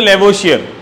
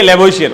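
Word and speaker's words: Lavoisier: आप एक साथ फ्लो फ्लो में बोले तो लेवोशियर, ठीक है, लेवोशियर। मैंने स्पेलिंग को तोड़ के बताया था, ले बो इज ईयर, ले बो इज ईयर। अब एक साथ बोल दोगे तो क्या आ जाएगा, लेवोशियर आ जाएगा, ठीक है ना, क्लियर है, बताओ।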